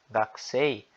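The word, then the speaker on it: 学生: Então, se baseando no japonês padrão, a pronúncia correta é gakusei, beleza?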